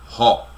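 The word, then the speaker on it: ὁ: A única diferença que nós vemos é que aqui, antes de logos, tem o ômicron com a aspiração forte, que nós pronunciamos como ró. Ró.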